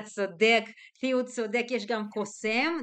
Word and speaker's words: קוסם: כן, אתה צודק, תהיו צודק, יש גם קוסם, the stress is on M, קוסם, ויש גם כמובן בתנך, זאת לא מחשפה, זאת בעלת האוב, אם אתם זוכרים את הסיפור של שאול, כן?